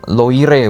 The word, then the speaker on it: Loire: Sungai Loire, bacanya Loire bos, baca bahasa Indonesianya.